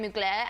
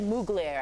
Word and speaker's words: Mugler: beat stuff a dream she said mugler i think that's how you say it yeah i said